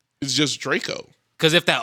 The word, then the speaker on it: Draco: a soulja boy big draco since we're being grammatically correct exactly you don't call him dracco you call draco but it's draco but